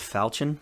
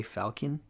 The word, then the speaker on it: falchion: i saw them make the i know it's pronounced falchion but i refuse to pronounce it that way i say falcon because i just don't like the pronunciation of